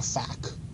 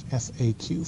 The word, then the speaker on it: FAQ: FAQ um and please don't call it a fact okay don't pronounce that it's fa AQ frequently asked questions all right um the